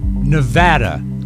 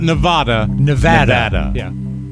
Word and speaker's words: Nevada: lot of wonderful listeners Nevada Nevada as they pronounce it not Nevada Nevada is um we